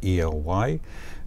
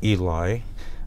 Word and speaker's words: Ely: the town of Ely that's spelled Ely don't call it Eli or the locals will get unhappy with you so it's Ely Nevada a little bit